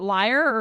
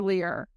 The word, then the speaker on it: lyre: So my first question is, is it liar or lear? I've heard it pronounced both.